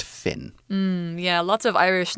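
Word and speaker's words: Fionn: f io n n it's an Irish name it's pronounced Finn hmm yeah lots of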